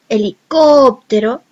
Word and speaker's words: helicóptero: cuya última palabra es una palabra esdrújula, es aquella en que la voz se carga en la penúltima palabra, en la penúltima sílaba, como en el caso helicóptero.